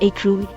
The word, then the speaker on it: écrou: The undisputed etymology of the English noun screw is from Middle French escroc, pronounced escroc, which evolved into present-day French écrou, pronounced écrou, and designates the nut of a bolt.